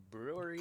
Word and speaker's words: Brouwerij: Brewery West. Brewery. It's brewery, but it's spelled Brouwerij. Yeah. Browerage. Brewery But Brewery J. West. So we're gonna be sipping on that. It's hipster. Yeah, the J is silent.